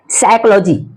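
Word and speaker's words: psychology: देख सकते हैं जैसे साइकोलॉजी साइकोलॉजी में पी साइलेंट है साइकेट्रिस्ट इसमें भी देख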